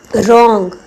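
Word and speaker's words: wrong: भी के साइलेंट है रंग इसका डब्लू साइलेंट है नाइट जी साइलेंट है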